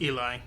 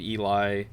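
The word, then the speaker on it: Ely: that he calls himself I think it's pronounced Eli okay because it was e-l-y and I was reading it as Eli but I could understand somebody saying Ellie at the same time but they find this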